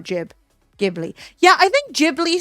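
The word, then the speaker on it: Ghibli: I think it's actually Jibli, but I hate that. Jibli sounds kind of like giblets. Yeah. Also, English is stupid because we're like, "Oh, no. Jibli sounds wrong." as though it's spelled with a G, like Giblet.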